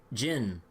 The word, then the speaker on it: Zin: to see Zen again, everyone pronounces his name like Jin, like or some shit. And I'm just like, wait, I was like, that's how you pronounce it the whole time?